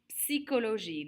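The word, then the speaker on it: psychologie: and then finally la psychology la psychology we're actually pronouncing the p the s and the y we do pronounce that p la psychology we're looking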